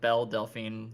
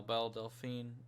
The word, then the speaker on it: Belle Delphine: care about bill delphine it's not bella it's belle yeah it's a bell bell delphine yeah that's how much